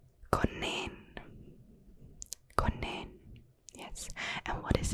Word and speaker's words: konijn: So what's this pronounced? Konijn.